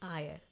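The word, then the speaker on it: ire: और यहां पे आर ऑलमोस्ट साइलेंट होता है।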